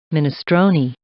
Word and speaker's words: minestrone: Oh yeah, they seem to have a pronunciation thing. Here, I'll mute the game again just to listen to this one. Minestrone.